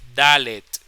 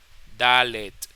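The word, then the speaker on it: דלת: para que presten atención se pronuncia la t al final Al momento de pronunciarlo es dalet dalet se pronunce así dalet Esa es la dalet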